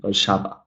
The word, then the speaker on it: Warszawa: The same thing goes here. We got the names of places, right? I believe we're all here in Poznan, right? Warszawa, Poznan. The same kind of stress.